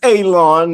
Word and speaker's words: Elon: My name is Elon. If you're new, pronounce like you're going to cut grass, like you're going to cut a lawn. It's not spelt that way, but it is pronounced that way.